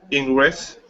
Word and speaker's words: interest: you repeat interest interest interest close it sounds like in interest interest interest interest close there's a silent E again so it sounds like interest interest good interest interest that